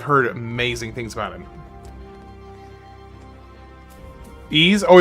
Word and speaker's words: Ys: Ease. Oh, it's called Ease. Okay, Ease. My apologies. I I was mispronouncing that. So, if that was a confusion, there's 11 Ease games.